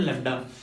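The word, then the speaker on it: lambda: इसको डिनोट कर, इसको बोलते हैं, प्रोनाउंस करते हैं लैम्डा।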